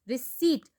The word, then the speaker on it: Receipt: Receipt, P is silent.